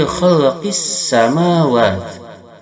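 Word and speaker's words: خلق السماوات: Inna fi khalqis samawat. Khalqis alif lam syamsiyah wajib idgham. Lamnya tidak dibaca tapi dimasukkan pada sin.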